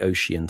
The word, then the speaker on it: ocean: You make ocean three syllables effectively because of the way